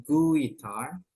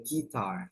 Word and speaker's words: guitar: cara baca gitar Jadi u-nya enggak usah dibaca ya bukan guitar tapi langsung aja gitar guitaritar yes and then